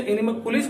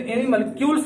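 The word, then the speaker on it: animalcules: हालांकि प्रोनाउंसिएशन में कहीं कहीं एनिमल कुलिस कहा जाता है, लेकिन एनिमल क्यूल्स नाम इन्होंने दिया था।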